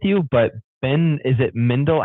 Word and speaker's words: Mendelsohn: I don't disagree with you, but Ben, is it Mendel? How do you say his name? Mendelsohn.